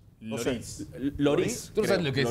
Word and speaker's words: Lloris: ¿Cómo se pronuncia? Lloris.